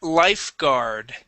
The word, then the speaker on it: lifeguard: to the word lifeguard life there that's the r sound gar lifeguard one more time lifu good good all right and uh make sure to pronounce that F there as well life life guard life guard there you go good thank you thank